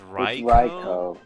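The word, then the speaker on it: Raikou: so that's where it comes from oh it's REO yeah it's not raich yeah Ando they suun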